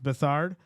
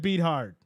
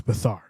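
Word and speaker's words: Beathard: According to Wikipedia, it's pronounced Bethard. That's what I've been saying. Who said beat hard?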